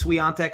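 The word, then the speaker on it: Świątek: right uh just because for our fellow polish fans it is swian Tech I just want to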